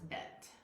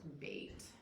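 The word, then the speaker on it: בית: And that's bet. Or you also hear it pronounced bait.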